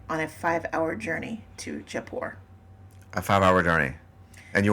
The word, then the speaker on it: Jaipur: They pronounce it Jaipur.